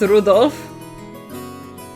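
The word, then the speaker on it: Rudolf: That mess of characters is pronounced Rudolph.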